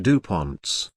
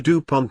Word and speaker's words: DuPont: variations in spelling the DuPont name are as follows Dupont Dupont Dupont Dupont Dupont and Dupont DMS in English the second syllable is accented in French neither syllable